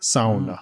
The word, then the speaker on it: sauna: Like, if you go to Finland, they're going to say sauna. That's a like the Finnish way to say it. Sauna.